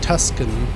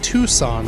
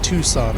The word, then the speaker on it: Tucson: how to pronounce it i keep saying tuscan arizona but those are the guys from star wars the raiders uh el paso no that's in texas that's something yeah i guess tucson i think is how